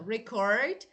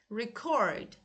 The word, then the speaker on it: record: Look, verbs, nouns. Look, noun the first part. Verbs the second syllable.